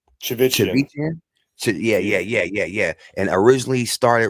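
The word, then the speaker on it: Chivichyan: Chivichian.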